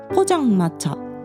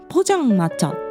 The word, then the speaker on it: 포장마차: まずポジャンマチャという単語の発音ですね。これ日本人にはすごく難しいんですよ。